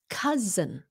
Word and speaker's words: cousin: Pronounce the S like a Z when the S is in between two vowels. Nha, nếu mà chữ S đứng trên giữa hai cái nguyên âm thì you pronounce it like a Z, like cousin, cousin, and music, music. See, it's a Z sound.